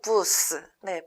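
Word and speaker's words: busz: 가장 아름다운 맥도날드고객센터 입니다 버스는 헝가리어로 부스네 비슷한 발음이 부스라고 읽게 되는데요 지금 보시는 사진처럼 보통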